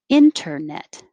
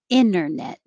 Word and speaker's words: internet: you can drop it same for number nine you will hear it with the t internet or without the t internet internet number ten professor professional